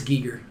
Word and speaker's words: Giger: with me on this you say it's pronounced Iger it's Gieger you sure I think it's guy everyone should know it's pronounced the Geiger it's Gieger anyways his original illustrations